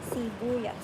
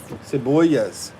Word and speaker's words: sibuyas: Cibuas. Sibuyas. Ciuas. Don't it start with a C? It's S.